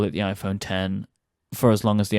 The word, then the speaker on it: iPhone X: you wanted to but no it is the iPhone 10 and I will call it the iPhone 10 and I all endeavor to call it the iPhone 10 for as long as the antenna exists because